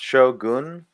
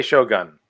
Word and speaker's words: shogun: Oh, so you say Shogun? Shogun. Shogun is how it's spelled. Like Shogun. Not gun, goon.